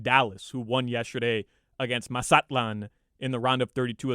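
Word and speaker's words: Mazatlán: just said masatlan well that's how it's pronounced in in Spanish right in Mexico would be masatlan and um you can say Mazatlan which was fine like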